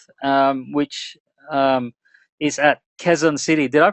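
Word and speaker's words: Quezon City: Um, which um is at Quzon City. Did I pronounce that right, man? Kzon City. Yes. Thank you, J. I used to say it the Australian way, which is Kuzon City, but now I know it's Kzon City.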